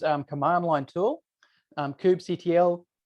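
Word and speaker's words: kubectl: command line tool um Cube CTL um cuttle um I've heard that Cube control is the wrong way to say it which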